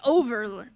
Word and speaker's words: Ove: Okay, so she said it's like Jover. Like over. Okay, so Ove.